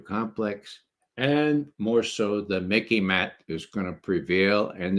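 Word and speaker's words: MICIMATT: appears in some dictionaries the Mickey mat sort of rhymes with Mickey Mouse so you can remember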